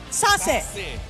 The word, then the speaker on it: Sassy: How do you pronounce the name? Sassy. It's sassy, guys. Sassy. Not, it's sassy, okay?